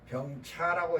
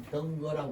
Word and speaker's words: 병거: 이거는 병거라고 있습니다. 병차라고 읽지를 않습니다.